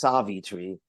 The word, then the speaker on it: Savitri: the wandering scholar and savitri is that how it's pronounced it's actually just like in just like it's yua not yua it's savit Tre stress the stress is on the first syllable yes so what are